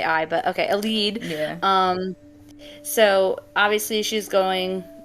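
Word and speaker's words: Elide: a light sorry how do you say it elad like e El yeah okay because IDE it would say I but okay El lead um so obviously she's going to try to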